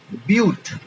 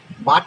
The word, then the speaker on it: but: যদি 4টে হয়, তাহলে বিউট, বয়সী হস্যু ট, হসন্ত, বিউট। ইংলিশে BUT লিখবো, কিন্তু উচ্চারণ হবে বিউট। বাট লিখেছি কিন্তু উচ্চারণ হবে বিউট।